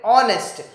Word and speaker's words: honest: vowel sound okay because h is silent excuse me and that is why sound i am so again we will use an air then honest h honest enable we will call it honest so o again o